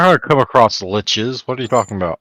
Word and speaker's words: lich: friends that pronounce lich as leech. Or leash. Yeah, no, Guess what? sucker. They're pronouncing it wrong.